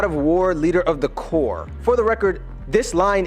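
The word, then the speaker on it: corps: word is so basically I know how to pronounce core I just intentionally pronounced it wrong to help people who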